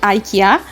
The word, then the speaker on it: IKEA: ইকিয়াকে ইকিয়া বলা হবে না আইকিয়া বলা হবে, আসলে অ্যাকচুয়ালি দুটোই রাইট। ইংলিশে আইকিয়া অ্যান্ড সুইডিশে ইটস ইকিয়া, বিকজ সুইডিশে আইকে ই এর মতো করে উচ্চারণ করা হয়।